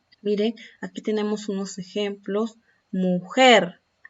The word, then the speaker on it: mujer: Mujer, volcán, latitud. Son agudas porque presentan el acento en la última sílaba.